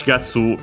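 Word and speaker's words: 四月: This we have checked last time, and we've seen that most are accented on Tsu of Gatsu. And yes, Shigatsu is one of those.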